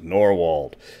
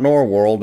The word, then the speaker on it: Norwold: the region known as nor wold not nor world as many people pronounce it for a lot of